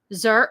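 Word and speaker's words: xer: Oh, X is pronounced like z, zer.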